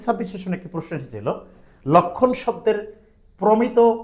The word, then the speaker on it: লক্ষ্মণ: ডি ইউনিটে 2025 26 সেশনে একটি প্রশ্ন এসেছিল লক্ষণ শব্দের প্রমিত উচ্চারণ নিচের কোনটি হবে অপশন ছিল চারটা রাইটসার